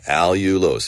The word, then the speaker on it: allulose: you've heard of that allulose it's spelled Al u l o s e all you lose think about all you'll